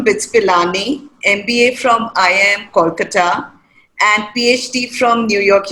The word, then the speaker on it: Kolkata: And I like the way that you pronounce Calcutta. You know, the way that I pronounce is, of course, like most non-Bengalis, but we call it Kolkata, all right?